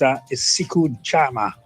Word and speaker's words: siku njema: So it's siku jama. Siku. Right? So, siku. SIKU NJEMA. Siku jama. Okay. The N is silent.